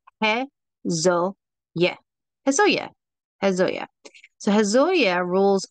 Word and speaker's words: Haziel: And so the way we say that is He-Zo-Yeh.